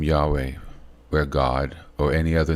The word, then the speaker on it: Yahweh: as that deep connection with God which is Yahweh those letters y HW all caps is pronounced Yahweh okay y a h w e h in